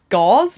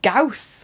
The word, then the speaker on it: Gauss: I remember I remember having to re-film gauze because it's pronounced Gauss Gauss yeah all the